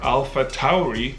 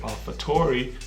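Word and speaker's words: AlphaTauri: julia's we also have alpha tauri which is apparently the right way to say it because i did my research and all the commentators and formulas who say alfa tori are wrong so you have alpha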